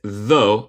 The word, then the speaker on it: though: Sin la T, la pronunciación es though y significa aunque. Con el T es thought.